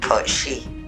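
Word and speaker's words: cat sìth: surrounding a cat-based creature known as the kochi in ireland and court seat in scotland both pronounced kochi and translated as fairy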